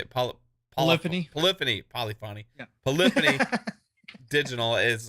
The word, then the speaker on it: Polyphony: Like, it's just like, man, polyphony, how do you say it? Polyphony.